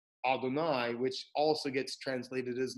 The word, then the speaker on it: Adonai: And we take the four-letter name and we pronounce it Adonai, which also gets translated as Lord.